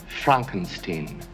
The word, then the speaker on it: Frankenstein: as the monster oh God Young Frankenstein it's pronounced Frankenstein um I love the putting on the red